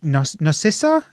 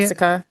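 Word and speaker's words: Nausicaä: Nice, Narcissa? Is that how you say it? Nausicaa.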